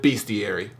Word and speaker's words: Bestiary: entitled beastiary but it's it looks like it's spelled bestiary but it's beastiary whatever now hell Mar